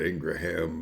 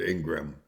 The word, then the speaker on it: Ingraham: uh interviewer laura ingram i would pronounce that ingraham but but ingram is how she pronounces it so i'll just not go against that at all that would